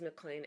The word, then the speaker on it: MacLean: His last name is MacLean, MacLean.